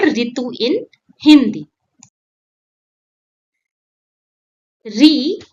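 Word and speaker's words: ऋ: It's a short, crisp re like the start of rhythm.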